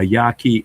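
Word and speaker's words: Yaqui: I think it the teachings of Don Juan, a Yaki Indian. A Q U I Yaki. I think that's how it's spelled.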